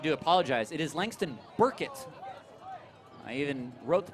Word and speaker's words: Burkett: It is Langston Burkett. I even wrote the pronunciation myself on my guide.